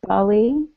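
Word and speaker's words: BALLE: home site or about Bali um and it is it's spelled b a l l e it's pronounced Bal like Bollywood like Bollywood right it's business Alliance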